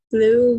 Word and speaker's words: blew: Blew my blue hat. Yes, the wind blew my blue hat. Blue bentuk kedua dari blow, meniup. Bunyinya sama dengan the color blue.